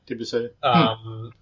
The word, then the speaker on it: Debussy: Yeah, Debussy.